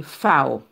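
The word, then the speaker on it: Vau: V en allemand, il est toujours, il n'est pas prononcé tant que V. C'est comme si c'est F lié. Ou dit FAO.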